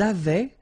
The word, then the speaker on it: avaient: Ils avaient, so remember, even if we've got this A-I-E-N-T, well, we don't pronounce it, or we don't pronounce this E-N-T, so we get avaient, okay, phonetically.